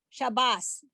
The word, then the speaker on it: Shabbos: somebody say Good Shabbos, because the word Shabbat, we pronounce it Shabbat, but the last letter of that word is this tough without the dot, and that would be the S sound, Shabbos.